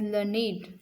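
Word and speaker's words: learned: a describing word a we pronounce it एज लर्नेट to rhyme with क्रिएटेडटेड स question here again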